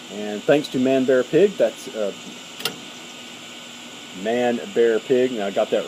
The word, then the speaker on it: Manbearpig: That's Manbearpig.